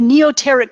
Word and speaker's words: Neoteric: which is uh the United group do I pronounce that right Nikki the neoteric group yes so t-h-e-n-e-o-t-e-r-i-c g r o u